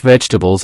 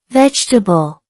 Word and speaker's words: vegetable: The stress is on the first syllable. Here's an example. I eat fresh vegetables every day. Now repeat after me. Vegetable.